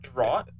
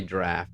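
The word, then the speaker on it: draught: a draft Stout okay this is the Texas version of how you say that how do you say that uh D drought yeah but it's supposed to be draft that's like the I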